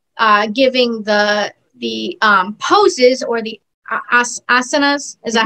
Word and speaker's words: asanas: And when you are giving the poses or the asanas, is that how you say it?